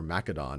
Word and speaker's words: Macedon: actually takes full control and becomes king of Macedon or Macedon as it's often pronounced in 359 BCE and what he then